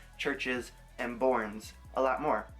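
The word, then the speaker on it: CHVRCHES: a trace by churches I believe that I pronounce their name it's like c hv r CH es i'm not entirely sure but to me it looks like churches so that's what I'm gonna say I had found this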